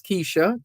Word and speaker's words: Kesia: Is this Keisha? It's spelled Kesia. It could also be pronounced Keisha.